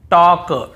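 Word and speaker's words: talk: के पहले हो देखिए यहां पर भी हम टॉक टॉक वॉक वॉक चौक चॉक यक यक फॉक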